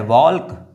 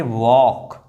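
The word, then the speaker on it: walk: वॉल्क नहीं। क्यों? क्योंकि ये ए के बाद यानी कि वॉवेल लेटर के बाद एल आया हुआ है, इसलिए ये एल जो है वो साइलेंट है। इसको पढ़ेंगे वॉक। वॉक बोलेंगे, क्योंकि एल जो साइलेंट है।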